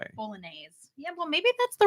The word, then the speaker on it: Bolognese: Bolognese. Yeah. Well, maybe that's the right way to say it. Bolognese, also a silent G.